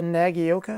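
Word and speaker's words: Nagaoka: better than this to begin with like uh nagioka i think that's how you pronounce it the mp110 i probably would have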